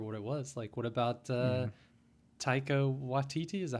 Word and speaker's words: Taika Waititi: What about Taika Waititi? Is that how you pronounce his name?